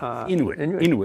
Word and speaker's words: Inuit: Now, I think some Inuit, is that how it's pronounced? Inuit? Inuit, yeah.